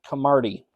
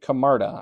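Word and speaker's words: Camarda: the Buccaneers that is Jake camardi uh Jake kamarda I apologize for the mispronunciation there Jake kamarda on to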